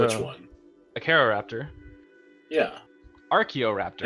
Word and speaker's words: Acheroraptor: Archaeoraptor. It's Acheroraptor. It's actually, I mean, it's supposed to be Acroraptor.